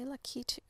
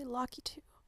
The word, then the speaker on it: Lakitu: So and I think, if I remember correctly, there's like ongoing controversy on how to pronounce the name of the creature that inhabits the clouds. I think it's more about the emphasis, on which syllable do you place emphasis.